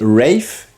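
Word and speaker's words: Rafe: j'ai décidé de mettre Rif ça s'écrit RAF mais ça c'est dit Rif version américaine il me semble toujours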